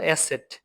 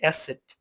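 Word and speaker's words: Eszett: তারপর হলো এসেট। এটা দুইটা এস এর মত এর উচ্চারণ হবে।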